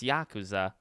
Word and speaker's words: Yakuza: made the video on my third channel it's Yakuza and I wanna I wanna remain uh faithful